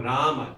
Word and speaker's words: Rama: Now this is why if you eat the at the end and say Ram, then you've got one syllable. So in a place where you need two, you only have one, the meter will be messed up.